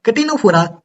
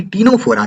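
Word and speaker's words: Ctenophora: तो चलिए अब हम लोग पढ़ेंगे फाइलम कटिनोफोरा यानी कि टीनोफोरा के बारे में। सी इसका साइलेंट होता है, मैं इसको प्यार से कटिनोफोरा बोलता हूँ, लेकिन आप लोग टीनोफोरा ही बोलिए तो चलेगा काम।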